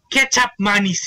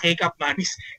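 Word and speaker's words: kecap manis: that I learned of the proper way to pronounce it ketchup manis hindi pala kup manis Ketchup manis or dark soy sauce na binabash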